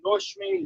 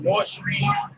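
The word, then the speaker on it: Nord Stream: prom said it would cut blows through the north stream one pipeline to germany and half to just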